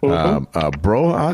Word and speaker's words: Broja: Broha, is that how you pronounce his name? Yeah, Armando Broja, from Slough.